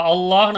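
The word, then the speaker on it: الله: அல்லாஹ் அப்படின்ற வார்த்தை இருக்கு அப்ப அல்லாஹ்ன்னு ஆரம்பிக்கும் போது ஃபர்ஸ்ட் எழுத்துக்கு ஃபத்ஹா இருக்கிற காரணத்தினால அந்த லாமையும் கனமாக நாம யூஸ் பண்றோம் அல்லாஹ் அல்லாஹ்ன்னு படிக்கல அல்லாஹ் அல்லாஹ்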